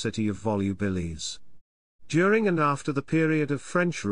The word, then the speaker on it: Volubilis: they biurea in om volubilis Even In classical Latin the v in volubilis was pronounced like a w making the pronunciation closer